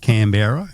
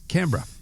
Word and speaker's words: Canberra: Not Canberra. It's Canberra.